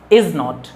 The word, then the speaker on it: isn't: coming next week okay इज़ नॉट इज़ नॉट इज़ not like we pronounce इज इजेंट okay इजेंट इजन this one सी इजन listening you without contraction C